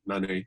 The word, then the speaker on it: Nané: It's a little bit more awe than it is supposed to be, but it's fine. Nané is how it's said.